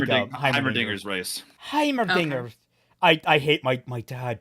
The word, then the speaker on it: Heimerdinger: Heimerdinger. Okay. I hate my dad does not want to, like, he intentionally mispronounces Heimerdinger and it pisses me the hell off. It's like Heimerdinger? all like Hermiderm, like he's just like